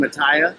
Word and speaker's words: Mattea: show my friend absolutely should have went over how to pronounce my last name mataya mataya all good good um